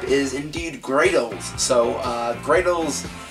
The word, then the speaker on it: Greydles: the ark type is indeed great old so gray Dalls it's spelled g re y dl e and it's